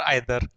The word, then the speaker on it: either: तो सेम उसी तरीके से ये जो ईदर है, इसका प्रोनाउंसिएशन, मतलब इस वर्ड के भी दो प्रोनाउंसिएशन है, ईदर और आइदर।